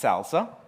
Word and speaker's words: SLSA: It's pronounced Salsa.